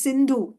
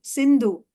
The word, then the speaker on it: Sindhu: You know, there is a river Indus, which is Sanskrit name is Sindhu. Sindhu. KOTOVSKY. Yes. Oh, yes. Yes, yes. Prabhupada. These Mohammedans, they pronounce sa as ha.